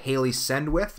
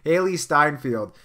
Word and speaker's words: Hailee Steinfeld: by the way like Haley send with I believe that's how you say her name mist sorry Hailee Steinfeld that was completely wrong Hailee Steinfeld the first time you